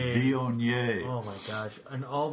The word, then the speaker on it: Viognier: So listeners, what he's doing is taking his left index finger to his left nostril, preparing to pronounce in a very French fashion, Viognier. Viognier.